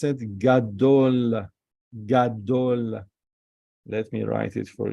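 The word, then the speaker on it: גדול: This is we didn't learn yet, but we pronounce it Gadol. Let me write it for you. Gimel with a kametz. Ga. Then Dalet. Gadol. Vav.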